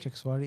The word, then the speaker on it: Chakswari: And in particular, they're coming from, and again, please correct me if I get the pronunciations wrong, Dodyal, Dodyal, yep. Chakswari, Chixwari, yep.